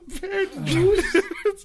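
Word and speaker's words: Per Djoos: Pear Juice is spelled PER space DJOOS. Pear Juice.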